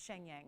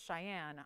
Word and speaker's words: Cheyenne: so it's just like when i thought the capital of wyoming was shenyang when i was little and it's cheyenne i just had you